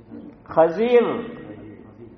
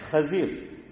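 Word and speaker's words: خضر: آ رہا ہوں کہ صحیح تلفظ کیا ہے؟ خضیر ہے. ہاں تمہارو دماغ سے غیر حاضر بدھی دیر ماری ابھی گلا ہے نہ اللہ سلامت رکھے ماشاء اللہ. تو بہرحال کیا ہے؟ خضیر.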